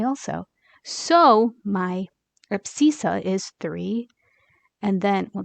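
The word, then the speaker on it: abscissa: i SS a that's for x and it's pronounced abisa and then the Y is a little bit easier that's called ordinant but this one's called abisa this one's called ordinant so if someone just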